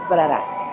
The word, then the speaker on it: Brera: We were wondering how to pronounce it, so it's Brera.